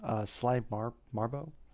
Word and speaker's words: Sly Marbo: We have 5 minute lore, episode 22, Sly Marbo, that's how you say it.